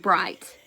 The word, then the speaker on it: bright: right hands might and bright the Sun is so bright I can't see you so remember that G is silent all right this one's